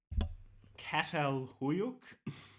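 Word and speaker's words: Çatalhöyük: The little the little squiggly line under the C makes it a S sound, like Sava.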